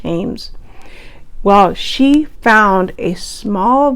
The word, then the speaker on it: Thames: for treasures on the i think it's the thames river t-h-a-m-e-s i'm pretty sure it's pronounced james well she found a